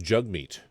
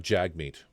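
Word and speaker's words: Jagmeet: Uh, it's pronounced jug meat, not jag meat.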